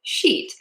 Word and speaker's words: sheet: We want to avoid all the poop words and instead say the word sheet. And to do that long e, make that vowel super duper long.